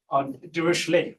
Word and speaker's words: Dirichlet: function the you know this word is actually pronounced d right it's french word so the d a